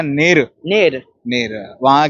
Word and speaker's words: Neru: जानेंगे कि कैसी लगी नीर तो सर जी यह कहानी जैसे की नेर जो लोग प्रोनाउंस करते हैं नेरो दैट इज रंग इट्स नेर नेर यानी सत्य सत्य यानी